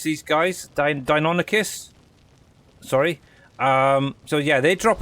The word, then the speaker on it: Deinonychus: So these Dinosuchus, what you want to pronounce these guys, Deinonychus.